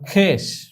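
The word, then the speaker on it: خویش: তাহলে খে আলিফ বললেই তো হয়ে যায়, ওয়াওটি লেখায় আসছে কিন্তু ওয়াওটি উচ্চারণে আসেনি। যেমন খেস, খে ওয়াও ইয়ে শিন, তো এখানে সরাসরি খে যদি ইয়েকে ধরতো উচ্চারণের ক্ষেত্রে তাহলেই হয়ে যায়, অর্থাৎ ওয়াটি উচ্চারণে আসেনি, খেস।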